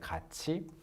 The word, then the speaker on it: 같이: a fairly easy word, you learn that it's pronounced like 같이, and you can be like, how am I supposed to know that this 갓 plus E is not 같이, but 같이?